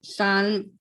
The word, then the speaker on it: psalm: Ma'am, Psalm, PSALM. Can you spell again? PSALM. Psalm. PSALM. Yes, ma'am. Yes, that is. But actually we say slam. SALM.